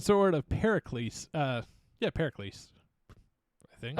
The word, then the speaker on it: Pericles: of Pericles uh yeah Pericles I think I definitely would have mispronounced that I would have said para celestas yeah sort of yeah no I think you're right I think this Pericles uh yeah it just